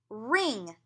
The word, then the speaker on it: wring: I will wring the wet sheets. You don't pronounce the W in wring.